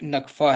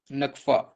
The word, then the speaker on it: Nakfa: ठीक है, करेंसी यहाँ की नकफा है, नकफा नामी करेंसी है यहाँ की, NAKFA, नकफा।